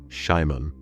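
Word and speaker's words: Szymon: Driver's name, Shimon. That's spelled S-Z-Y-M-O-N.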